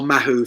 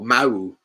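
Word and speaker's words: Mahou: heineken or paulana or mahu five star or mao mao as i was told to say you pronounce it in spain mo you don't pronounce the h me i'm like another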